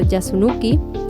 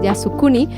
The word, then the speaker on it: Yasukuni: Ha visitado reiteradamente el el santuario Yasunuki, a ver si lo pronuncia bien, Yasukuni, lo que ha provocado